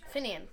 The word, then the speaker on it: Finian: How do you pronounce it? Finian? Finian.